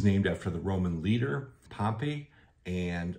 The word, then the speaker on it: Pompey: after the Roman leader Pompey and a lot of people outside the area will say Pompeii but if you actually again look at the Roman it is Pompey so there's the town